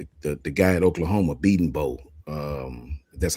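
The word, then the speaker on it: Bedenbaugh: Um, the the guy at Oklahoma, Beating Bow.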